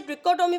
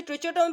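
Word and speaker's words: trichotomy: Next हमारे पास state the ट्रिचोटोमी, कुछ लोग इसे ट्रिकोटोमी पढ़ते हैं, कुछ लोग इसे ट्रिचोटोमी पढ़ते हैं, बोथ ऑफ प्रोनाउंसिएशन करेक्ट है, आप जाके गूगल भी कर सकते हैं।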